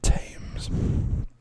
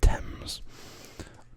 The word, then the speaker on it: Thames: better so i think some people maybe say river tames but it's pronounced thames i don't know why you would probably to be fair um looking at the spelling it maybe should be should be pronounced tames but uh it's not we had to be